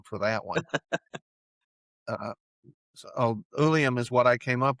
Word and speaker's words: Uilleam: Okay, it it's pronounced Ulium.